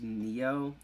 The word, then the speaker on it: Xio: of my long time friends nyc 2600 it's pronounced neo his full handle is technically neo amsterdam but